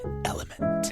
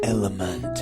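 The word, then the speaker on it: LMNT: no no no it's it's the letters l m n t and it's pronounced element element okay see I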